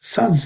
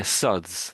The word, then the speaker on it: suds: SADS, yeah? It's actually Yeah, yeah, suds. That's exactly how it's said.